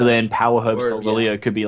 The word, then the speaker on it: Solgaleo: Solgaleo.